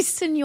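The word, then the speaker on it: Señor: even think you notice also John's pronunciation of Senor is hilarious because he keeps calling it senior fret so it's just an old ferret he's like senior feret it it's supposed to be Senor it's supposed to be Senor faret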